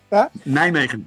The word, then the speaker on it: Nijmegen: Nijmegen, but any pronunciation is okay.